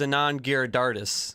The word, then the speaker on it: Anand Giridharadas: What form of government is Anand Giridharadas?